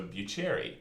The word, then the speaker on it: Buccierii: it's Buccierii, and it's pronounced bu like beautiful and cherry like cherry. So Bucherry.